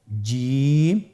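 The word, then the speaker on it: ج: চেষ্টা করুন হয়ে যাবে এর মাখরাজ হলো জিহ্বার মধ্যখান তার বরাবর উপরের তালুর সঙ্গে লাগিয়ে উচ্চারিত হয় আপনারা পিকচারে ছবিতে দেখতে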